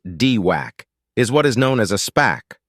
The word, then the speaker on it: DWAC: freak out digital world or dwac pronounced dwac is what is known